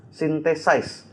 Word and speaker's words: Synthesize: synthesis? Itu dibacanya Synthesize.